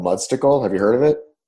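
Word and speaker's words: Mudstacle: there's a website called mud Stickle have you heard of it I've not okay months to go which is spelled like it sounds right like popsicle or what mu DST a CLE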